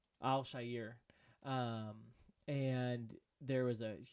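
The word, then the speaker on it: Al-Shaair: shisir right that's how you say his name Al Shyer um and there was a huge brawl that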